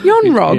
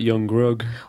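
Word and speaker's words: Yon-Rogg: Yon Rog. Yes, anyone with 2 syllables. Yon Rog. That was like Young Rug.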